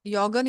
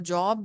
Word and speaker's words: joggen: So like a job also, see, because as per the alphabet sounds, yes, J to be pronounced like yacht. And for job, we'll say job. That is okay, but you can also say job.